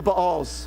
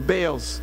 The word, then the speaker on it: Baal: Lord and followed the Baals, the Baals. Just a reminder, a simple thing, but in Hebrew, every letter is pronounced. And so even though in English we want to shove those two A's together, technically you would pronounce both A's.